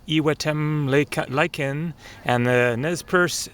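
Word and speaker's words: Iwetemlaykin: edge of the lake it is pronounced e lyen and the nesp spelling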